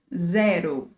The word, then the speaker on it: zero: Then we are going to see that the zero is very similar in terms of spelling, but the pronunciation is a bit different. In Portuguese, we say zero.